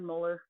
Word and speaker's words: molar: solution of a 0.7 molar, 0.25 liters of a 0.7 molar solution. That's how you say it, by the way. Molar, like the teeth.